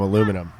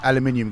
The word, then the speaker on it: aluminium: Let's hope there's no one on their team with the last name Aluminum. Yeah. It's pronounced aluminium, guys.